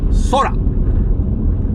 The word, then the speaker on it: Sora: The new generative AI, Sora. Let's all work on our pronunciation, folks. You gotta roll the R. Sora. Sora. Ra, ra, ra. Sora. Sora. Kirei na sora da na. Sora wa hiroi ne.